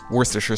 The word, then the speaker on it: Worcestershire: get right to the ingredients first things first Worcestershire sauce yes that's exactly how you pronounce it afterwards light soy sauce dark is